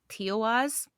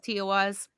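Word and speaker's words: Tiwaz: like the arrow that points up um it's tiaz is how you pronounce it um surprisingly I thought it was going to be a lot harder than that but no it's toas um but so anytime you see that Rune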